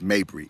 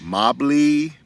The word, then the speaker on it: Mabry: and cold calls and my last name is Mabry m-a-b-r-y but people want to call me Mr Mabry uh Mr Mobley Mr mavry Mr Mayberry Mr Mosley and and what happens